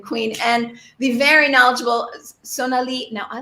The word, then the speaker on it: Sonalie: at the end exactly to make it more French. So Sonali is very appropriate. Um, the other way that people say it is obviously the more kind of Indian way, and sometimes with different pronunciations.